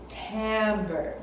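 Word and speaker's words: timbre: for today is called timber it's spelled with an eye but you say it with a an a tambour and that's the color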